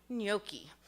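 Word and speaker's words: gnocchi: Nothing comes to my mind except for a word that starts with a silent G. Nyoki.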